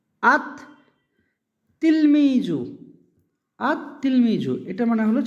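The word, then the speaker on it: التلميذ: আঙ্গিকে হওয়া উচিত ছিল আল তিলমিজু, কিন্তু এমনটা হয় না। এটা উচ্চারণটা হবে এভাবে, এই লামের উচ্চারণটা হবে না, আত তিলমিজু।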